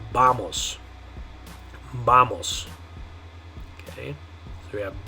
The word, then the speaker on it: vamos: Okay, and the way you're going to say it in Spanish is vamos. Now notice on that one, you know, if it were an English word, my guess is we'd probably say vamos. Vamos. Okay, and that's where people get kind of mixed up on this one sometimes. They'll say something like vamos.